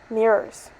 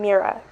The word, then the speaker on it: mirror: through my head mirror mirror with an o not an a i don't know why